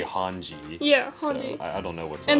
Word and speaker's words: Hange: science lady change yeah that's why i just pronounced it like that but the show they say hanji yes i don't know